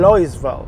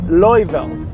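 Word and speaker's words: Louisville: اما بالنسبة بقى لمدينة لويسفيل، هي اساسا كلمة فرنسية بتتقال لويسفيل، ولكن اساسا بالانجلش هي بتتقال لويفيل. هي الكلمة اساسا مكتوب فيها حرف اس، اسم المدينة مكتوب فيها حرف اس، فحرف اس ده المفروض اساسا ما بيتنطقش.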